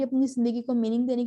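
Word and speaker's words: Camus: तो इस तरह से एक बंदा था एल्बर्ट कैमस, इसको कैमू भी पढ़ते हैं, लेकिन आई am more comfortable in the pronunciation of कैमस, तो मैं इसको वही कंटिन्यू करूंगी।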